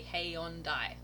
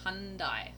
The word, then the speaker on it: Hyundai: Oh, so Paula Igo says, and I think in the UK we say Hey Hyundai. Hey Hyundai. And Crystal said, in America, pronounced Hyundai.